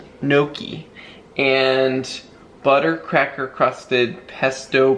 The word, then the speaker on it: gnocchi: How do you say this? Noshi? Gnocchi.